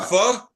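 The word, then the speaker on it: phở: Pho. Pho? Pho. Pho. Oh, I love pho. As in, Pho is fuck awesome. you. Is this Like that's how you saffron? pronounce it? Pho. Yeah, like fuck it.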